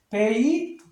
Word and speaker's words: bathed: 그래서 bathed 이런 식으로 해주겠죠. 비슷하게 이거하고 이것도 마찬가지입니다. 이건 명사거든요. 그래서 얘를 무성음 발음으로 해주고 얘는 동사니까 유성음 발음.